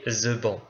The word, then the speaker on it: Theban: et sorcière c'est euh l'alphabet the ban alors ça s'écrit th h e B A n dans sa version anglaise ou tbin dans la version française vous aurez plus de